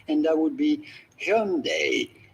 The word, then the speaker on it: Hyundai: Well, I'm going to give you a pronunciation that is as close as you can sort of get it from the original genuine Korean pronunciation of the brand, and that would be Hyundai. Hyundai.